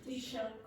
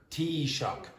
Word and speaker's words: Taoiseach: How do you pronounce it? Taoiseach. Taoiseach. So think of a cup of tea and then I'm so shocked.